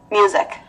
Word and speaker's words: music: Chữ sờ đọc là Z nè. Rồi dịch. Có âm K phía cuối nữa. Music. Và nhớ cho dấu nặng vô music luôn chứ đừng có music nha.